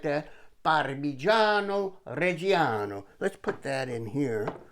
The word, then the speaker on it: Parmigiano Reggiano: Here's 1 1/3 cups of grated Parmigiano Reggiano. You have to say it like that. Parmigiano Reggiano.